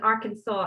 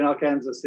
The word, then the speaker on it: Arkansas: It apparently comes from French. That whole kind of area just above Louisiana had a lot of French influence at one point, and so it takes its pronunciation from a French way of saying it.